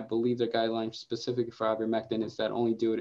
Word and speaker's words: ivermectin: It's pronounced ivermectin.